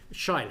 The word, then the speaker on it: Shaila: Shaila, I hope I've got that right, your pronouncing of your Christian name. Is that correct? that's perfect, Sir Geoffrey.